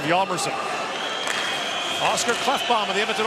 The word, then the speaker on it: Hjalmarsson: In North America, they say Hjalmarsson, but here in Europe, they go with the more traditional Swedish pronunciation of Hjalmarsson.